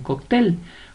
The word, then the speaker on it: cóctel: sílaba tónica tiene tilde vamos con cóctel cóctel la mayor fuerza de voz la lleva en él y no tiene tilde